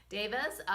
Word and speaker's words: devas: with the nature Davis I think that's how you pronounce it David right not Deva Davis so you know we